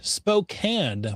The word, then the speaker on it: Spokane: April 25th in that Spokane, Washington hosted by Cruising for Cache. Very fun. I'm sorry, I just really enjoy pronouncing I know it's Spokane, but I love pronouncing it Spokane. It's Spokenay. Spokenay.